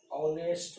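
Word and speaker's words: honest: लेकिन यहाँ लिख दें ऑनेस्ट मैन, एम ए एन, यहाँ लिख दिए ऑनरेबल गर्ल, यहाँ लिख दिए एयर, यहाँ लिख दिए एयरेस। अब देखिए ये सब का उच्चारण वॉवेल साउंड के तरह है, इसलिए क्या होगा एन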